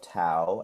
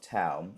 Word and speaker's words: Thao: So you can follow me on all social medias at the tow of tow and I'll spell that out for you.